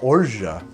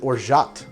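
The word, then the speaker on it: orgeat: own half an ounce some people think it's pronounced or Jie and they're wrong sometimes I pronounce it or shocked because I'm an American and that's fine like over here in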